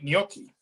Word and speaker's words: gnocchi: gnocchi yeah so there's there's a silent g in there all right okay all